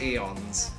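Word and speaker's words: Aeons: Yeah, I've tried no-hit Bloodsea in Delirium of Eons, and I just cannot do it. I tried though. Left. Honestly, I prefer the left more than the right. You pronounce it like eons. The A is silent.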